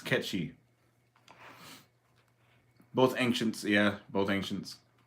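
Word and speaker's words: Cait Sith: Kate Sith at all it's based on a Scottish lore uh catchy it's based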